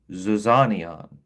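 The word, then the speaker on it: ζιζάνιον: It's going to look completely wild to you reading it in Greek and even the pronunciation is going to start with a D and then a Z, right? So, zizanion, okay?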